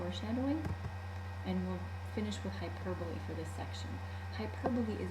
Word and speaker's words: hyperbole: And notice how it's spelled. You don't say hyperbole, you say hyperbole.